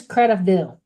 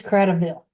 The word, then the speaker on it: Cradaville: And I know I've just said that wrong. I always have to think that through. No, it is Cradaville, correct?